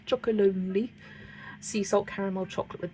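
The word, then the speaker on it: Chocolonely: I always struggle to say that chocolate brand. Choco Lonely. It's not that hard. Chocoloni sea salt caramel chocolate with me.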